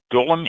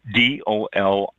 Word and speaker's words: dolium: 2024, the Dolim is making a comeback.